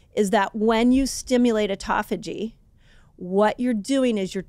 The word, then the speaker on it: autophagy: way of saying it people say either call it um autophagy or autophagy people say it different you tell me I said it wrong I kind of landed on autophagy I feel like autophagy is the best way to say it autophagy fasting what's that